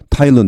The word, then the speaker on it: Thailand: 여기 TH L는 타일런드입니다. 서더가 아니고 발음이 그냥 터입니다. 터 T하고 똑같습니다. 여기 타이 타일런 이렇게 발음되죠.